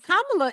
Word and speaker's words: Kamala: you know I think I started getting it right when I started thinking about Pamela Pamela right like Pamela that's how I got her name right yeah interesting how do